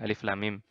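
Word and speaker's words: الم: Nah, dalam surat pertama Al-Baqarah misalkan kan ada alif lam mim. Nah, itu alif lam mim. Jadi panjang 6 harokat. Perhatikan yang dicetak merah ini. Bacanya seperti ini. Alif lam mim.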